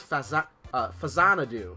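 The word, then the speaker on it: Faxanadu: Fantasy Zone, Faria, this is Fazanadu, that's how you pronounce that.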